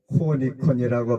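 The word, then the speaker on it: νικῶν: 계시록에서는 성령께서 말씀을 하셨습니다이기는 자는 헬로 니콘이라고 발음을 하는데 전에도 이기고 현재도 이기고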